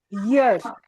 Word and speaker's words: years: Sometimes when we are speaking, we think that Y is silent here. It is not silent. It is year.